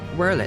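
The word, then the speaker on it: Werlyt: Gaius bloody Baelsar himself is working to help rebuild Wurlid, a nation he once conquered. Whirl it, that's how you pronounce it.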